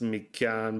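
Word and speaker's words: Mi Cyaan: It's Me Can Believe It. Huh. And it's spelled M-I-C-Y-A-A-N Believe It.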